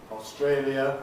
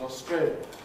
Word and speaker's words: Australia: Australia becomes Australia.